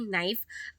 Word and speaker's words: knife: कनाइफ नहीं knife.